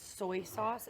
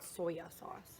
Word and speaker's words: soy sauce: when you found out that it's soy sauce and not soya sauce? Wait, it's soy? What? Yeah. How do you say it? So you were today years old? I guess so. Soy sauce. Soy sauce. Not soya sauce. It's not soya.